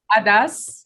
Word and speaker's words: Adas: Again, help me pronounce the Arabic title. Adas.